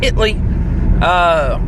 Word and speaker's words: Italy: If you're from Texas, it's pronounced Italy.